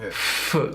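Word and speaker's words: フ: So it's not foo or foo. It's halfway between fu and huh.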